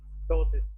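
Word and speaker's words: ptosis: में क्या होता है डोसिस ट इनेबिलिटी टू ओपन द आई इसमें प साइलेंट है ट कॉल्ड डोसिस क्लियर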